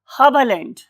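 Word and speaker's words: Haberlandt: Got leap, ये दो ही आएंगी इसके अंदर, लीब, गॉटलिब, हबलैंड। इस वाले केस में हम ई आर को आ बोलते हैं, गॉटलिब, हबलैंड। ये जर्मन लैंग्वेज में इस साइंटिस्ट का नाम।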